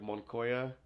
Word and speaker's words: Moncayo: They'll switch even where the mics are introduced, they switch the A and the O. And it's Moncayo.